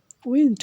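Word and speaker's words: wind: উইন্ড অর্থ বাতাস, উইন্ড অর্থ বাতাস, আর ওয়াইন্ড অর্থ বাঁকানো, একই রকম অর্থাৎ শব্দ একই, উচ্চারণ ভিন্ন। উচ্চারণ যদি উইন্ড হয় তাহলে হবে বাতাস, আর ওয়াইন্ড হইলে হবে বাঁকানো।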